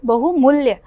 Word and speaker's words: बहुमूल्य: बहुमूल्य, बहुमूल्य में आप खुद उच्चारण करके देखिए, बहुमूल्य। मुंह म के ऊपर जो है ऊ की मात्रा जो उसमें थोड़ा समय लग रहा है बोलने में, तो बहुमूल्य हो गया वो। जरूरत, जरूरत नहीं, ज़रूरत, रू